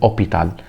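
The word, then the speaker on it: hôpital: تمام لا بجيت اوبيتال ومش بنطق حرف الاش حرف الاش هنا غير منطوق بالنسبه لي يعني يعتبر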